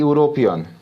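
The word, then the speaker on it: European: वैसे वैसे बहुत सारा ऐसा चीज़ है कि आप उसका उपयोग करेंगे, जैसे कि यूरोपियन, यूरोपियन, यूरोपियन, यहाँ पे यू, चाहे यहाँ पे लेते हैं एम्पायर, एम्पायर।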